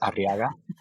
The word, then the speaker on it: Arriaga: If you could roll your R's, it's extra points. Arriaga.